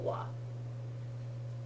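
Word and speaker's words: は: Okay, so konnichiwa and konbanwa use this particle wa. Okay, they do not get spelled with that wa.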